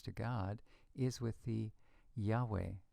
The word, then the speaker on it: Yahweh: y a we the Yahweh name of God was written first with a j j a and pronounced Yahweh so it's that that little German J equals a y sound that's caused this to